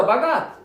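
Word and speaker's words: בגד: Vino la aventura, Bagat, esa es la pronunciación en hebreo, y llamó su nombre Gad, que significa aventura, o buena fortuna.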